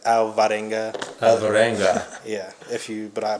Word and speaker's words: Alvarenga: uh so i'm gonna it's not pronounced properly but my last name is alvarenga alvarenga yeah but it's a hispanic so if you wanna hit it with a hispanic accent sure i don't because